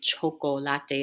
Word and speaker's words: chocolate: the world and again choco latte is how we say it in spanish and that's a cognate it's